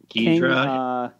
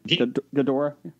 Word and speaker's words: Ghidorah: Ghidra. I never say it right. Ghidorah.